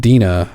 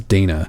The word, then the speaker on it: Dana: I've always said Dina, but you said it was Dana.